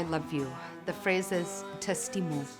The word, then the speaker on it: t'estimo: ♪ Across the cloud ♪ - In Catalan, to say I love you, the phrase is t'estimo. It's T apostrophe, E-S-T-I-M-O. Pronounced t'estimo.